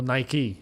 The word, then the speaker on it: Nike: I've never been a Nike guy or Nike. If you're in the States, you pronounce it Nike.